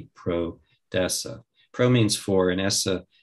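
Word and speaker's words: prodesse: It comes from the word origin of proud, which is a Latin term, and it's spelled P-R-O-D-E-S-S-E, pro-dessa.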